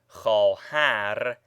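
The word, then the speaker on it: خواهر: It should be observed that vav following khe, as in khohar, is not pronounced.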